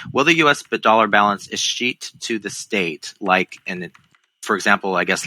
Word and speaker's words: escheat: Dollar balance, how do we pronounce it? Escheat? E-S-C-H-E-A-T?